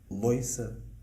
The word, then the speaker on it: louça: the OI diphthong: toiro, loiça, loiro,... Ok. And in Lisbon we use more OU, we say touro. We say "to do the dishes (louça)", not so much loiça, I think.